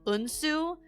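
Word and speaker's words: Eunsoo: has a brother named unsu like like literally the pronunciation like that should be fine but it's it's spelled e-u-n-s-o-o and for some reason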